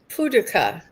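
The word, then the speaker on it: Paducah: Puduka is how you say is Puka is Kentucky. Paduka.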